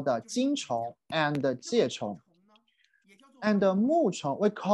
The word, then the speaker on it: 虫: category chinese people regard all the animals we pronounce it is a chong worm so we use the chong to distinguish